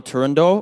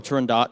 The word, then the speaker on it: Turandot: First off, so this is Nessun Dorma from the opera Turandot, or Turandot, depending on how people pronounce it, by Puccini.